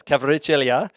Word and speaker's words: Kvaratskhelia: Yes, Kvaratskhelia, the player at Napoli, who Have you been taking language classes to be able to pronounce these names?